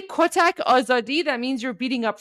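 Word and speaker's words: آزادی: for a because if you if you say oadi, that means you're beating up freedom. But you can say for a which means, you know, you're beating up people for freedom. So there you go. But yeah, oadi.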